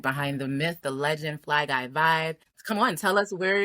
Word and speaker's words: Fly Guy Vive: It's Fly Guy Vive. And Vive is actually short for Survivor.